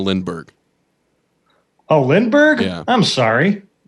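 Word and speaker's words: Lindbergh: mispronounced his name mat what did I say lindenberg instead of Lindberg oh Lindberg yeah I'm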